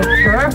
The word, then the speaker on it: Gir: So it should be pronounced Gir Forest, but I prefer to say Gir Forest, because it's much more of a pun there, isn't there?